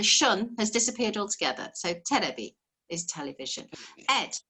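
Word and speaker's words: テレビ: in japanese it is terebi terebi now a b in japanese is because they don't have a v sound so elevation yes it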